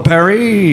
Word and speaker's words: Paris: go I went to Paris of course beautiful Perry yeah that's how they say it yeah yep you